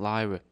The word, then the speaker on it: lire: It's because it's spelled L-I-R-E, and then I remember, oh no, it was said lira. I always thought it would be spelled L-E-E-R-A.